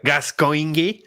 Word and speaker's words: Gascoigne: That's actually pronounced Father Gascoigne.